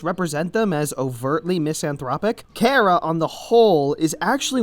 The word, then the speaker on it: Chara: Cara which is pronounced Cara Knotts are are you it's a play on the word character this game is a